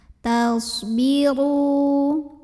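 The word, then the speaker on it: تصبروا: Tasbiru. Huruf ro dibunyikan secara tafkhim karena ro-nya berbaris dhammah. Maka cara bacanya ditebalkan, pangkal lidah dinaikkan.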